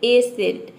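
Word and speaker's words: ascent: स प्रोनाउंस करते हैं तो देखिए आप देख सकते हैं कि एसेंट में हम एस को केवल प्रोनाउंस कर रहे हैं यहां पे सी को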